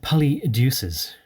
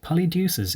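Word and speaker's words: Polydeuces: gave birth to uh polly deuces or poly deuces but poly deuces is a nice way of pronouncing it i think because what is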